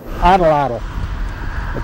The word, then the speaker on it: Atlatl: Atlatl. It isn't spelled that way, but that's the way you pronounce it, huh?